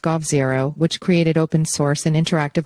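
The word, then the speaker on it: g0v: But what sets Plurality apart is Tang's tangible experience running large-scale, open-source, public, digital infrastructure projects like the G0 project pronounced Gov0, which created open-source and interactive alternatives of Taiwan's government websites, and V-Taiwan, which enabled citizens to petition for policies.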